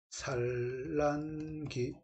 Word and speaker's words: 산란기: 니을이 비음화가 일어나기도 한다 리을의 비위마가 일어난다는 얘기는 뭐냐면 리을 리을로 발음 안 되고 니은 니은으로 발음된다 그 뜻입니다 1번 선택지 볼게요 자기가 발음해보면 됩니다 산란기 이렇게 되겠죠 그럼 뭐다 일단은 위험하죠